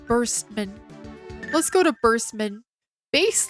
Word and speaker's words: Bass: Bass like the fish. Yes, that's how you pronounce bass.